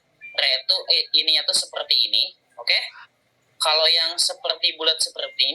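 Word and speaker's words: を: Jadi film artinya tuh eiga itu film kalau miru tuh melihat penonton, wow ini tuh partikel ya. Eiga, ketika posisinya sebagai partikel, dibacanya bukan wo tapi o.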